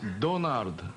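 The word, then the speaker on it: ドナルド: Yes, but we cannot pronounce Ronald, you know, so we pronounce Donald. R and L cannot pronounce.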